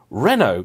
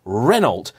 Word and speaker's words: Renault: not Porsche and yeah it's Renault not renal citrin not Citron it's